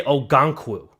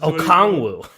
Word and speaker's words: Okongwu: You say Ogankwu. Yeah, I don't know what the hell that guy's name is. Okongwu. Okongwu, whatever.